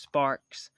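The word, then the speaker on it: Sparx: Some people say that's pronounced Sparks, but it's spelled S-P-A-R-X, so however you want to say it.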